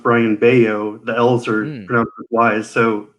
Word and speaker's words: Bello: for him as a red sox fan brian bellow he is going to be getting the call